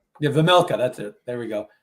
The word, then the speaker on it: Vejmelka: I can't even pronounce his last name. Vejmelka. Yeah, Vejmelka.